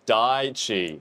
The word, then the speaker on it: Daichi: Hey, look, I know how to pronounce this now and I'm not gonna try and pronounce it. It's Daichi, because everyone shredded me in the comments.